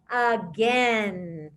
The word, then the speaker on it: again: hear cooper again and what vowel do you actually hear with that word you hear shorty don't you i went to the store again so that's why it's